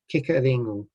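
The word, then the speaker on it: Kekerengu: But it's another place that often gets mispronounced and annoys me quite a bit, because I can read, and so this is actually Kekering.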